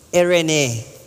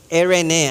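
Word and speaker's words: εἰρήνη: Ain pero kapagka Greek ang pronunciation, Erene. Erene ang basa po diyan.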